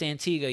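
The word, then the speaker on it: Antigua: good thing wherever this thing continues to move pronounced Antiga yep I got a right this time hopefully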